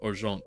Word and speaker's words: Argent: that it's Argent energy well more accurately pronounced arant that is actually the word coming to us by way of French or silver despite the pre-established canon